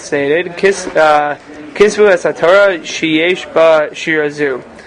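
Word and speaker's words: כתבו: It's kisvu lachem.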